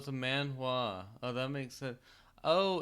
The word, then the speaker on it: manhwa: Even though it kind of looks like it should be hua, but the H is silent.